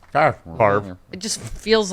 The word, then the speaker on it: Favre: It looks like it should be a 2-syllable name. Right. But it's only a 1-syllable word.